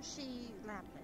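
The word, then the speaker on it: Shi Lapin: S-H-I. It gets confusing. Some people kind of spell it odd. So she is she.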